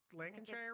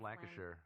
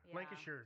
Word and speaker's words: Lancashire: in England and I did I say that Lincolnshire right it's Lancashire Lancashire thank you I knew I said it wrong as soon as I